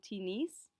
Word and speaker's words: tennis: tennis similar issue jouer tinis in this case we do actually pronounce that s at the end of t nice simply because it's a borrowed word uh they imported it